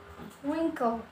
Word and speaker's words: wrinkle: Kemudian ada wrinkle atau kerutan, ya. W-nya juga tidak diucapkan.